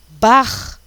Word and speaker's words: Bach: importante, um compositor barroco, chamado Bach, tá? B-A-C-H, Bach. Então, aí sim a pronúncia é R, mas para o português